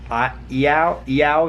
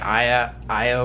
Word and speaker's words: Iao: wrapped a little bow she told us that is called ai-ya-ya Valley and we were calling it aya aya Valley those were from Ohio Ohio and we just pronounced things like how they look i oh that's called